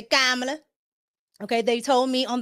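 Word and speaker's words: Kamala: Okay, I used to say Camala. Now I say Kamla.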